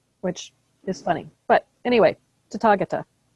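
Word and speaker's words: Tathāgata: And the stress in Sanskrit is usually on the third to last syllable.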